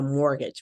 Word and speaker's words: mortgage: So we call that a mortgage, but we don't say the T.